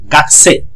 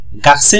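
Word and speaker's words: 学生: ওকে, এটা আপনার খেয়াল, গাকুসে না বলে বলবো গাকসে।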